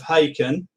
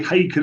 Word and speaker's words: Haken: And yes, I think they say Haken as in bacon, isn't that what they say?